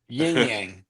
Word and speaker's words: Yin-Yang: Yin-Yang.